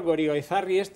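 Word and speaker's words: Goirigolzarri: Nos tenemos que enterar de la historia de Bankia por el señor Gorigoizarri que nunca sé pronunciar bien.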